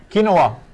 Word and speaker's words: quinoa: How do you pronounce that again? Quinoa.